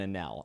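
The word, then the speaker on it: Enel: long for instance anel which in the viz Edition is spelled like iniru but I'm going to say a Nell because it's I've heard people say it before but anella's cool however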